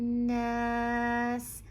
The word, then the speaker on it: النَّاس: surah is to be, every time you come across the shadda on the noon, you emphasize on it, you pronounce it for 2 counts. So here you say Malikin Nas.